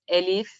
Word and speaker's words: Elif: hopefully you do and don't worry about pronouncing my name it's elif but like i was